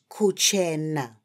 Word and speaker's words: kuchena: Yes, friends, let's say Kuchena.